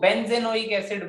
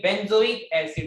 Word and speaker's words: बेंजोइक एसिड: Pronunciation, कुछ लोग में भी ज्यादा लोग आ जाते हैं, इसको वो बेंजेनोइक एसिड बोलने लगते हैं, ठीक है। तो ये बेंजोइक एसिड है, बेंजेनोइक कुछ नहीं है, ठीक है।